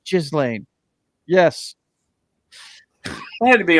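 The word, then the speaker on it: Ghislaine: Jizzlane. I'm pronouncing it correctly. Believe it or not, it's not Gizlane. It's Jizlane.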